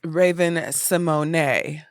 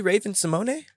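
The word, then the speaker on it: Raven-Symoné: you pronounce Raven Symone it's Raven Simone that's more douchey she has an accent and on the E it's really Raven Simone yes that doesn't roll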